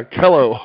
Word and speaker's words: Kellough: about right that's right it rhymes with hello yeah kello okay see i kind